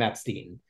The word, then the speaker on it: Epstein: The family pronounces their name Epstein.